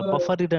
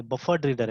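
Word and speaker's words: BufferedReader: Spelling में ध्यान रखिएगा, पास्ट टेंस से देखिएगा, बफर रीडर नहीं बफर्ड रीडर है ना, ये ध्यान में रखिएगा, ठीक है।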